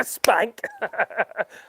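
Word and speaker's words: SPANC: And although when our authority came, which is called Spank, yeah, Spank. Well, that's spelled S-P-A-N-C. So yeah, not Spank as in woo, oh saucy. No, not that one.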